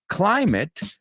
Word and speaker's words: climate: Climate rhymes with private.